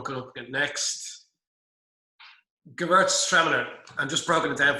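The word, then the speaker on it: Gewürztraminer: It's a German word, Gewürtztraminer. Anybody who's lived in Germany or that won't have any trouble with it.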